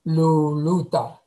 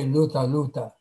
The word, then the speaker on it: luluta: But if it's a double syllable, like luta, crimson, you would say luluta. You don't say luta luta.